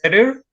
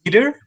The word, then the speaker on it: better: example, the one, well, the first is better, and if you pronounce it as bitter, actually the word also exists. We only exchange the e, and we can drop the e and we add an I, and the word is bitter.